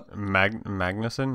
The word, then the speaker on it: Magnussen: billy main magnussen i think is how you pronounce that uh magnuson yeah magnuson palm clementife charlie wright pearl utt